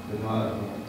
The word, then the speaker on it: Gadadhara: Generally, you'll find that people, even in our movement, will say Gadadhara or Gadadhara. There's four syllables, but only three are said. Gadadhara. So the long syllable is the second one, Gadadhara.